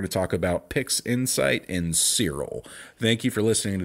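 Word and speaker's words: Siril: And it goes by the name of Cyril. And to spell that, it's S-I-R-I-L.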